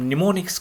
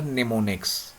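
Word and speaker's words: mnemonics: In which we are using the codes that those codes are here called a निमोनिक्स। एम एन ई एम is silent there हां सो इट्स अ निमोनिक language also इसको निमोनिक language भी कहा जाता है।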